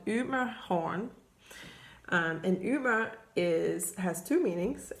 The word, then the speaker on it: Ymerhorn: The name of this, and I'll go through it later with a real Dane's pronunciation, it's called Ymerhorn.